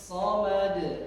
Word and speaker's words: الصمد: Allahus Somad. Simak lagi, Ustaz contohnya sekali lagi. Qul huwallahu ahad. Allahus Somad. Yuk bersama 1 2 3. Qul huwallahu ahad. Allahus Samad.